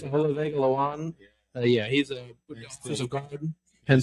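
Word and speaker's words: Olaivavega Ioane: I can't even pronounce his name. Ola. Oh yeah, the it's Olavega Lawan.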